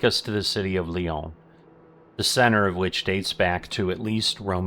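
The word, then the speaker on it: Lyon: Our next stop is Lion. Okay, it's actually Leon, but I'm surprised she didn't have that right.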